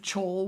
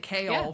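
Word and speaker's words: Chaol: I mean, I've never been roasted harder on the internet than saying chole with 10 toes down. And that is and I will never let that go. That's how my brain. But you said it kale from the get-go.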